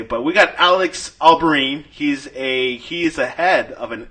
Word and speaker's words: Albarran: But we got Alex Albarran. He's a head of an MMA agency. And it's actually Albarran.